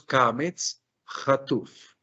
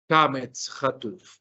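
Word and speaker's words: קמץ חטוף: O sea, es casi que una pronunciación mucho más breve, obviamente, el Kametz Rahav, pero atención que lo que pronunciaremos aquí será una O. Se translitera como una O, se pronuncia como una O.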